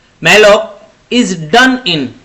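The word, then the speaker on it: malloc: अगला question, question number 70, memory एलोकेशन using माल ओसी या कुछ भी आप इसको प्रोनाउंस कर सकते हैं। मैलॉक इज डन इन, ये किस में होता है?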